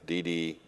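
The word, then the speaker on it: DiDi: talk about that and I've always pronounced it incorrectly it's Dede I always want to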